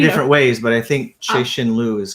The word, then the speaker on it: Cixin Liu: whose video I watched said it was pronounced Cixin Liu. I don't know if I'm saying that wrong, because like in the audiobook it wasn't pronounced like that. It was pronounced a little bit differently. So the audio was Cixin Liu. It was instead of she, it's Shay.